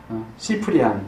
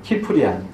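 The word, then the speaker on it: Cyprian: 초대교회 그 성경시대 그 뒤에 교부 중에 키프리안이라고 하는 뭐 시프리안이라고도 하고 그 라틴어 C는 발음이 C로도 나고 크로도 나고 그러기 때문에 발음이 뭐 여러 가지지만 시프리안, 뭐 키프리안 이 사람이 한 얘기가 있어요.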